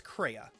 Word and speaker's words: Crea: but in the US version, her name is Crea, which is spelled C-R-E-A.